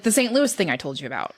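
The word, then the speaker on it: St. Louis: it is in fact St Louis there is an S at the end there is an S and it is pronounced it is in Missouri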